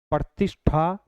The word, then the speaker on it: प्रतिष्ठा: समझने वाली चीज है प्रतिष्ठा प्रतिष्ठा जैसे श बोलेंगे वो मुरधने की आवाज आएगी और आवाज किसकी होगी श के साथ में ठ का उच्चारण होता है ध्यान रखना इसी प्रकार